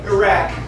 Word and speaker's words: Iraq: It's actually Iraq.